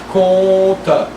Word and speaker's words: compte: The M is mute. So if between those 2 syllables you move the tongue to prepare the next one, con, you're going to have an N or an M sounding. So leave the tongue completely flat, compte, and just move the